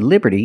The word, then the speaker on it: Liberty: and we see that t in Liberty is between vowels so it's pronounced like a fast D Liberty Liberty not Liberty